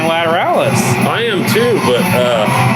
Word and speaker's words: Lateralus: yeah what was it for the longest time we said lataralis what is it well you told me what it was i'm still saying lateralus i am too but